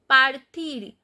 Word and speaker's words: partir: Partir, you know the r is the exception letter, so when we find r as a final consonant we pronounce. So partir.